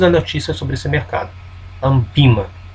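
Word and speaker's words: ANBIMA: Um dos links é o link da Andima, que concentra todas as notícias sobre esse mercado. Ambima, a pronúncia correta.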